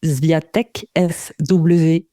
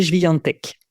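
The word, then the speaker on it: Świątek: Alors, si on prononce à la française, c'est Swiatek, Swiatek. Et bon, si vous avez envie de savoir le prononcer en polonais, c'est Swiatek.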